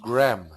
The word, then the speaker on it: Graham: many tsty Graham Graham Graham I like the name Graham we call it Graham but actually it's it's pronounced grham but yeah gram thank